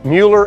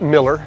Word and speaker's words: Mueller: Mueller, and it's pronounced Mueller, it's not Miller, it's just so you know.